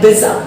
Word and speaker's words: bizarre: BIZARRE, इसको pronounce करते हैं बिजा. बिजा, जस्ट लाइक पिज्जा.